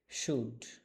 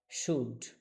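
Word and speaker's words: should: সুড সুড সুড সুড সুড এস এইচ ও ইউ এলডি সুড এখানে এল এর উচ্চারণ হবে না।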